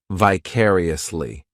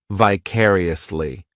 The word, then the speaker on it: vicariously: adverb which is vicariously this adverb has five syllables and the stress is on that second syllable vicariously the third syllable it's like that letter I just has that e sound and the fourth syllable has the schah vicariously what this adverb